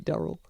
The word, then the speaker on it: Durrell: yes so I mean a standard English pronunciation of d-u-r-e-double would be Daryl okay so let's start